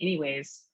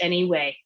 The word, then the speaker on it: anyway: it's real gross anyway that's how you say it no z just any way anyway fast forward the reason